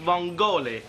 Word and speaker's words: vongole: up, so you can keep your linguine and vongola. Oh, I'd love you whether you were salami-sized or stick-thin, pet. And I think you'll find it's pronounced vongole.